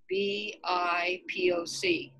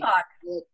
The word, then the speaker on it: BIPOC: The associate director of the Peace and Justice Center had an article about the acronym BIPOC.